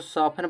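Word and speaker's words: soften: ऑफन माने प्राय इसको सॉफ्टन पढ़ा जाता।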